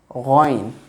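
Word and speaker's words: غين: Ghain from the top part of the throat with GH sound.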